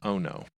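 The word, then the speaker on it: Ohno: child-sized little girl robot and her name is Ono and if you're curious how that's spelled it it is the word o and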